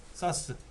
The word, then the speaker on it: SAS: 사스. 스카시라고 읽고요. 이건 사스라고 읽어드리는데 이런 하드를 달면은 어마어마하게 빠르죠.